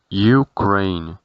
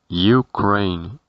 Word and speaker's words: Ukraine: Para Ucrania, su pronunciación será Ukraine, Ukraine, Ukraine, es decir, con la E del final muda, Ukraine.